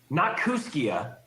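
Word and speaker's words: Kooskia: this sign with this name the town's name is spelled k-o-o-s-k-i-a that's right who nakusukia not because a name used by the native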